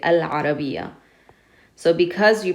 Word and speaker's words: العربية: And in this one you have ayn, and ayn is qamari. It doesn't use your tongue. Therefore you pronounce the al. We say al-arabiya.